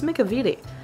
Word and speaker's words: McEveety: Frank double Vincent Macavity whose last name I've been mispronouncing since he started working on Disney films that's a lot that's many I don't know why I was pronouncing his last name wrong I just really couldn't comprehend how to say it and then one day I was like it's McCovey T I'm an idiot I